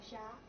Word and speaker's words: Sha: Sha. Sha? Mm-hmm. How do you? S-H-A. Just Sha. Yeah. Okay. Most Chinese words were monosyllable.